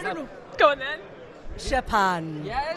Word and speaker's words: Szczepan: We can't pronounce this. Yeah, you can't, I can, I don't know. Go on then. Szczepan. Yeah, Szczepan.